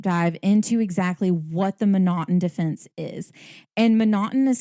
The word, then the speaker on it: M'Naghten: take a deep dive into exactly what the monotone defense is and monotone is spelled several different ways it's spelled mcnaughton it's